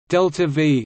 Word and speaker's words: delta-v: Delta V, literally change in velocity, symbolized as increment V and pronounced delta V, as used in spacecraft